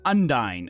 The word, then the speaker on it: Undine: girls yeah so unine wait how do you pronounce it undy n d i n e undy gotcha gotcha gotcha so they to be confused